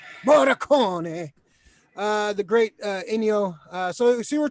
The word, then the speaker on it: Morricone: How do you pronounce his name? Morricone.